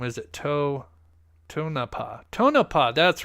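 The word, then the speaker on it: Tonopah: did I pronounce it wrong I I always pronounce that town wrong is it to tonapa tonapa that's right tonapa my bad um it happens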